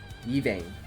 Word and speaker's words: Yvain: Yvain.